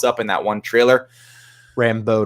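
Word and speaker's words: Rambeau: in that one trailer rambo not rando rambo yeah i just mispronounced it um he liked it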